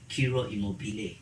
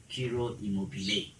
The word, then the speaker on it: Ciro Immobile: Ciro Immobile. So that his name, it's pronunciation is the same as what? As the word immobile. They are the same.